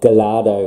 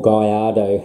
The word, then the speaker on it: Gallardo: next we've got a Lamborghini Gallardo or Guyardo however you want to pronounce that now this model is